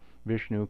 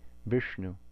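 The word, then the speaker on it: विष्णु: roof of my mouth and incidentally if we say vishnu this is a cerebral sibilant so most of us are saying vishnu incorrectly because we don't have this in english but you can hear that cerebral quality if you see it correctly and then the na following the shah is also cerebral visnu then we have the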